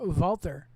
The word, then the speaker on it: Walter: Walter, or Walter, as he's commonly known as. You pronounce that W as a V, a Walter.